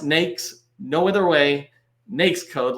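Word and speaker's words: NAICS: a really important one used multiple ways it's pronounced nakes no other way nakes code like snakes and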